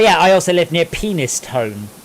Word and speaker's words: Penistone: i also live near penistone or pinistony as it's more correctly pronounced so yeah there